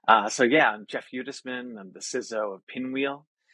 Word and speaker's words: Hudesman: fee for many uh so yeah I'm Jeff hudisman I'm the sizzo of pinwheel I've been in